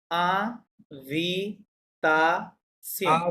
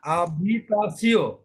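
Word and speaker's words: habitation: আ ভি তা সিও, চারটা সিলে বলেন শব্দটা। আভিতাসো, আভিতা, আভিতাসিও, আভিতাসিও, রাইট।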